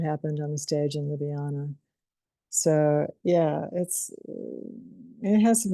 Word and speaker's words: Ljubljana: How do you pronounce that again? Ljubljana. Ljubljana, Ljubljana.